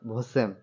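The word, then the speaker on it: восемь: ভোসেম eight কে বলা হয় ভোসেম ভোসেম ভোসেম উচ্চারণ হবে ভোসেম নাইন কে বলা হয় দেভিত নাইন কে বলা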